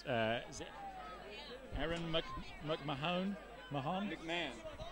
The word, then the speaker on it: McMahon: Aaron MC McMahon Mahan McMahon McMahon they don't pronounce the h Tom mcmah you live